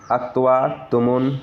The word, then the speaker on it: क्तवतु: उसी तरह से कतवतु लिखा हुआ है लेकिन पढ़ने में उसे अक्तवतु पढ़ेंगे, और कत्वा लिखा हुआ है पढ़ने में अक्तवा जो है इसको पढ़ा जाएगा।